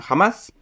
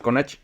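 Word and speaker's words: Hamás: grupo que se llama jamás eh Así se pronuncia en español no es kach y ellos eh se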